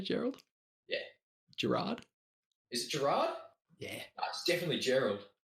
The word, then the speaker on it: Gerard: Gerard? Is it Gerard? Yeah. It's definitely Gerald. It's definitely Gerard. Is it Gerard? Yeah, it's definitely Gerard. Sorry, man. Oh, it is Gerard. Oh, We can call him Gerald if it makes you feel better.